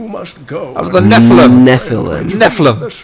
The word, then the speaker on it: Nephilim: Nephilim. Nephilim. There's another syllable in there. Hey, just said it real fast. Like a garage.